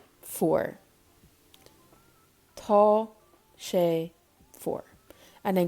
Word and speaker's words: fuar: So it is cold in Irish is tá, shay, foor.